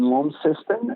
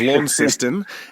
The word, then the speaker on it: Launceston: But I am doing a show in Launceston at the Lonnie Comedy Festival, which is a new festival starting up next year.